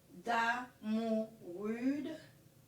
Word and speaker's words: Damourude: Damourude.